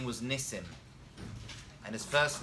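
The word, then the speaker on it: נסים: in the singular in the plural it is Nissim that is correct I had a friend of my class actually still a friend of mine I've seen him in many years though whose last name was Nissim and his first name was Nissim oh yeah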